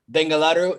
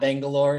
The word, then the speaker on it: Bengaluru: spain the united states in bengaluru not bangalore say it correctly like the local people do there are eight million